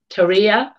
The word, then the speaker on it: Terje: I've been trying to pronounce his name correctly, and it's just gone out of my head. Terje.